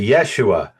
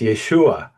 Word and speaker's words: Yeshua: talk about Yeshua, or they'll say Yeshua, and I'll say no. The emphasis is very important that it's Yeshua, and it is because